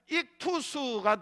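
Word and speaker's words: ΙΧΘΥΣ: 그리고 마지막에 이렇게 돼 있는 게 그게 소테르라고 하는 S자인데 S 발음이에요. 소테르예요. 그래서 이걸 헬라어인데 합치면은 뭐가 되느냐? 익투스가 되는데, 익투스가 바로 물고기를 헬라어로 익투스라고 해요.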